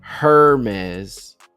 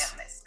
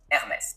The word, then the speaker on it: Hermès: It's not Hermès, it's Hermès. This is very important in French, the H is always silent unless it's part of a digraph.